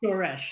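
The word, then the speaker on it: שורש: Shoresh. Yeah. Shoresh. Good. Accent on the first syllable, shoresh.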